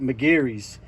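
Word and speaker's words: Meguiar's: This is Maguire's, or my wife and I, we lived in Ireland for many years, and we actually would pronounce that McGeary's.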